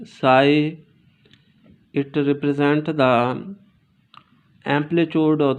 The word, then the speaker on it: psi: that's truly you know that psy pronounced as s i g h psi it represents the amplitude